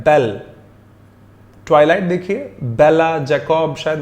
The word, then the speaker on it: belle: मैं इसका प्रोनाउंसिएशन भूल गया, माफ कीजिएगा, इसका प्रोनाउंसिएशन बेल है। मैं एक बार चेक करके देखता हूं, जस्ट अ सेक। हाँ जी, मैंने अभी भी चेक किया, प्रोनाउंसिएशन बेल ही है। तो इसको हम बेल्ले ना पढ़ें, वेल्ले जैसे हम हिंदी में पंजाबी में यूज कर लेते हैं, इसको बेल्ले मत पढ़िएगा।